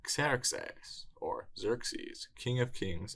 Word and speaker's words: Ξέρξης: It's Xerxes or Xerxes, king of kings of the Achaemenid Empire.